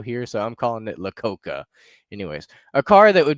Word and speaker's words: Iacocca: Iacocca. Okay, James says it's pronounced Iacocca.